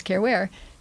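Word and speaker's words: Caren Ware: It rhymes, Care Ware.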